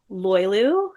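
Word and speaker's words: Löyly: One is called Loylu, Loyly, which it doesn't seem like it would be pronounced Loylu, but it is.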